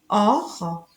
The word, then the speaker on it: Ohr: Ici, gehen, le H est muet, gehen, aller, go, or, oreille, ear. Le H est muet en or, oreille.